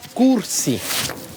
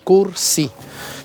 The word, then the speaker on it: Kursi: este lugar se llama cursi con k de kilo cursi así se dice y se escribe ese cerro que tenemos